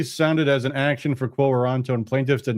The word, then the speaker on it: quo warranto: By the way, I'm sure you're correct on the pronunciation, because I was pronouncing it the way that Hartman was pronouncing it. Quo warranto.